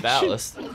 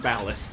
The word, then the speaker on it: Ballast: What's the actual pronunciation? Ballast. Ballast, okay.